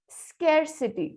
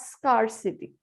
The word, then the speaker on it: scarcity: For example, scarcity, not scarcity. Oh.